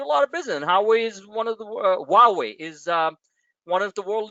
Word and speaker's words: Huawei: sales back and forth, imports and exports from Huawei. Oh, I finally pronounced the name right.